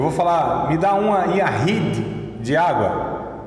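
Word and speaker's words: יחיד: Yahid é Y-A-C-H-I-D mudo também, né? Yashid. Então Y-A-C-H-I-D, Yahid.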